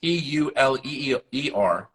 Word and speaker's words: Euler: And it's Euler. And people sometimes pronounce it Euler, but it means owl in German.